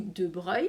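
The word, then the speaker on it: de Broglie: c'est le physicien louis de breuil ça se prononce comme ça qui a affirmé en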